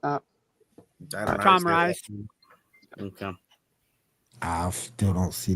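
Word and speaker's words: Tom Rhys: How you pronounce that? Tom Rice.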